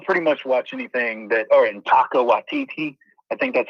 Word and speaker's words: Taika Waititi: So, I'll pretty much watch anything and Taika Waititi. I think that's how you say it, Taika Waititi.